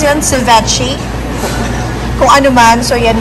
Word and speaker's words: ceviche: Ano yung parang i-pronounce yan? Ceviche? Kung ano man. So, yan yan. And then, sashimi. Ceviche.